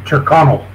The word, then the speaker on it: Tyrconnell: So, Tyrconnell. Tyrconnell. Yeah, Tyrconnell. Okay. Yeah. Yeah, usually when... you're pronouncing Irish names, you're supposed to do it as fast as possible, I've been told.